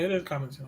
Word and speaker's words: Connaughton: Yeah, it is Connaughton.